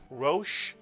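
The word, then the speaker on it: ראש: And the Shin, you have a one vowel, one syllable word, Rosh.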